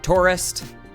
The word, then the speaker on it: Taurist: and just made it Taurist. Although, saying that out loud now, that's pronounced like exactly the same as tourist, or like close enough.